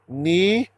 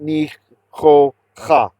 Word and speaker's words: nicho'ach: Notice it's nicho'ach. It's not nicho'cha. Chates, when they have a gutturals actually in general, if they're at the end of the word and they have a patach under them, you pronounce the patach first.